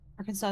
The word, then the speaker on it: Arkansas: Arkansas is pronounced that way because of its French origins.